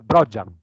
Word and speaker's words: Brogian: qui, la presidente Brogian o Brogian, come preferisci? Brogian, l'accento sulla O. È Veneto, per cui è Brogian.